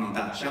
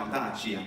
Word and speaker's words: audacia: Quandi etsiam proristus non se lude, qual fine sesse frannati a tave d'audacia, e non audacia, ma audacia, con due brevi, invece di ciacia.